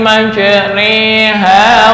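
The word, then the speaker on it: مجريها: disebut dengan farsyul kalimah sama dengan lafal Bismillahi Ma re ha tulisannya majro Ha tapi cara membacanya adalah imalah imalah diulis dengan bulatan di bawah Bismillahi majriha wa Mur n Mur sa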